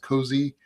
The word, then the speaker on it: COAZ: AuthZen, the OpenID AuthZen working group has been working on Cozy, as you mentioned, COAZ, Yeah. pronounced Cozy.